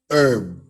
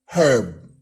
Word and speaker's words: herb: an herb pronounced as herb pak's american english and pronunciation and word nato is herb but in british english it is pronounced with an h as in herb so we use a